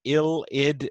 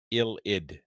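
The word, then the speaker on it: ylide: what we call an ill id precursor yes another organic chemistry word that we pronounce not the way we would first predict from its spelling ild is what this is called no this is the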